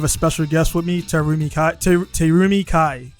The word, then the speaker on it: Terumi Kai: normal i have a special guest with me terumi kai correct i said it right yes yes so